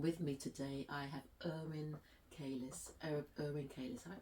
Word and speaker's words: Erwin Keiles: with Esther and with me today I have Inn kis Inn kis have I pronounced your name correctly correct yes sometimes I